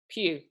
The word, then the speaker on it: Pugh: have one last question the correct pronunciation of your last name Pew okay that's what I thought okay on today's episode